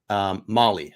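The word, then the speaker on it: Mahle: Molly. Okay, it is Molly.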